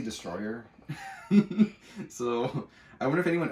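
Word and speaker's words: Destoroyah: This is Godzilla versus, I always have a hard time saying this kaiju's name, but I believe it's pronounced Desostroya, but I always say Destroyer.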